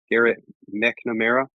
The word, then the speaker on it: Garrett McNamara: Garrett McNamara.